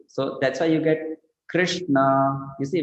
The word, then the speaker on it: Krishna: So that's why you get Krishna. You see, when you say Krishna, we put a dot below R, isn't it? And we say Kri, isn't it? Krishna. So it's Ri, Krishna.